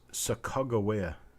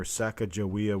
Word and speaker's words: Sacagawea: to the effect that the actual name of this Indian guide was sakagawea I've only heard that in a couple of places but I did hear that that was the proper pronunciation and that everybody calling her Sacagawea was not correct I don't know to